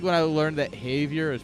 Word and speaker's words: Javier: it's kind of like when I learned that Havier is pronounced Havier not Javier I was like wait a minute that's just